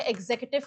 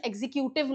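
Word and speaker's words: executive: है, इसको कहते हैं एग्जीक्यूटिव कमिटी। इस वर्ड का प्रोनाउंसिएशन एग्जीक्यूटिव नहीं होता है, इस वर्ड का प्रोनाउंसिएशन होता है एग्जीक्यूटिव।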